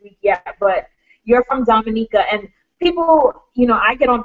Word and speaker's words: Dominica: Dominica, and I'm like, no, it's Dominica. They're like, well, it's spelled this way, it's spelled this way. And I say, no, I said, the way you know how to pronounce the name of a country, you have to talk to someone from that place, and the way they pronounce it is the way you pronounce it, okay?